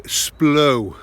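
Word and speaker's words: Splott: Kincoed and Lisvane and you would say splo. You don't pronounce the T in Splot if you're posh, innit?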